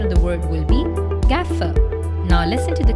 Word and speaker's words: gaffer: when making a film it is often incorrectly pronounced as Gough remember your again just like in cast the a will be pronounced as air and not arm so the correct pronunciation of the world will be Gaza now listen to the correct pronunciation of these